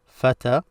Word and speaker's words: فتى: This is pronounced as a.